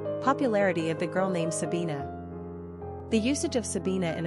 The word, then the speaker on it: Sabina: Pronunciation, Sabina.